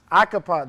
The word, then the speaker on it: Acheampong: Acheampong.